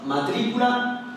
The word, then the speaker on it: matrícula: aquí tenemos dos ejemplos matrícula y rápido y como podemos ver la sílaba fuerte o sílaba tónica es la antepenúltima matrícula y rápido es